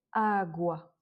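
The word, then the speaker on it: água: En fait, le fait d'avoir un a après le u fait qu'on va prononcer le u. Agua.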